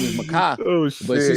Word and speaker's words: Mekhi: So his name is Makai, but she spelled it wrong, completely wrong.